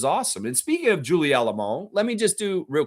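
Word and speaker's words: Allemand: The D at the end is silent. It's French.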